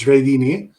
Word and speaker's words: Jraydini: Giardini, is that how it's pronounced? Yes, yes. Hi, everyone. Yes, last name is Jraydini.